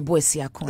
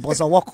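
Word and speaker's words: Boasiako: So there was just, and they could not pronounce the Boisiako. Okay. You heard things like Bozawoko.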